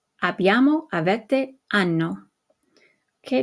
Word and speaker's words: hanno: Avere, o, hai, a, abbiamo, avete, hanno. Okay, notice that the H is silent, but we retain it so that you know that it's the conjugated form of avere.